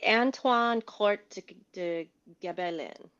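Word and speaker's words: Antoine Court de Gébelin: U Marie, will you help me pronounce this? I'm Oh, I'm sorry. Anwine court de Gabellin.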